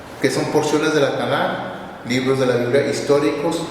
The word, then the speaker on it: Tanaj: Pero como es una Kaf Sofit, una regla en el hebreo, todas las Kaf Sofit se pronuncian como J y no como K, si no diría Tanaj.